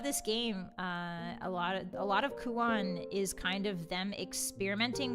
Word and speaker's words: Kuon: How do you spell it? It's K-U-O-N.